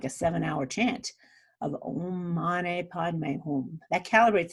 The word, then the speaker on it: Om: it's significantly less than Om, O-M, at 740. I don't know the reason for that, but it's interesting to know. It's a different sound, A-U-M, if it's pronounced properly versus O-M.